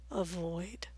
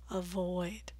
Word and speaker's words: avoid: vol 15 poison turquoise avoid two syllable verbs are frequently stressed on the second syllable so make that vowel long and clear avoid so 15 words that